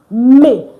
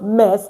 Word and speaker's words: mes: Instead, you use may. So, ne is not pronounced mess. Instead, it's pronounced may like m a y.